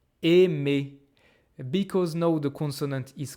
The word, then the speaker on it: aimé: "mé" And so, even though this "ai" I exactly the same that this A I know this is pronounced as et et and if you look at my mouth it's completely different. Et it's not open at all anymore.